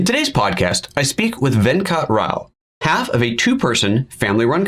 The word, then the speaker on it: Venkat Rao: I'm your host, PhotoJoseph, and today it is my pleasure to introduce to you Venkat Rao.